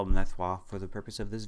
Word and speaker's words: Nethroi: Well, being a French-Canadian, Nef, that's pretty straightforward. In R-O-I, we pronounce Wa, and Wa is French for king. So, I prefer Nethroi as a name compared to Biolante, but that's just me.